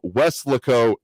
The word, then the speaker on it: Weslaco: correct it this time, Weslaco, Texas. I said it wrong in emphasis on the wrong syllable last time here.